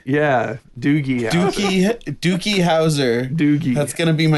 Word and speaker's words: Doogie Howser: Dookie Howser getting his throat cut?